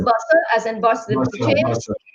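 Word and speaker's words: Bussa: Is it pronounced Buster, as in bus, the chain? Buster chains. Right, Buster.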